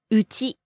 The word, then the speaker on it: うち: サルササルサ Falling on the second syllable ru and staying low. サルサ Next we have うち home, house.